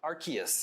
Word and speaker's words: Arceus: Pokemon Legends, is it Arceus? Arceus is how it's pronounced. Or Arceus, nobody knows. It's back and forth.